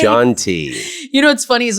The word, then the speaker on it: Shanti: um now you don't it's you corrected The Shanty you must drive you crazy when someone says